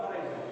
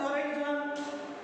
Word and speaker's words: horizon: The sun will never rise above the horizon. What is horizon? Some people, children are sometimes trying to rectify my pronunciation. Horizon. Horizon is not a correct pronunciation. Horizon. It is the correct pronunciation.